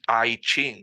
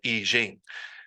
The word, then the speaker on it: I Ching: it's sorry it's Jing it's not ching it's not the I Ching it's like it is the easing like I'm sorry I just I don't even speak Mandarin and I know that it is pronounced the eging and she was pointing out that sometimes it's spelled with the J and I'm like that's because they want you to pronounce it that way as opposed to the pinion ch but again it's fine